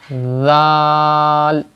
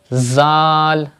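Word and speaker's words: دال: Dal. Dear viewers, you have to read dal without whistle sound. Whistle sound means this sound, z. If you pronounce this letter like that, zal, it is wrong.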